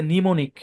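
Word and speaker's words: mnemonic: হবে না খেয়াল করেন সাইলেন্ট এম যুক্ত শুধু একটা শব্দ আছে নিমোনিক আমরা আর পাই নাই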